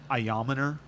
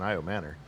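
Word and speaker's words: Ayomanor: I think it's Ayaminer is actually how it's pronounced. And just all the announcers are getting it wrong because they've all been Io Manor.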